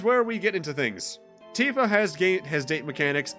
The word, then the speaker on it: Tifa: i did fight with him this is tifa not tiffa tifa although thankfully in terms of name in pronunciations compared to at least titus slash titus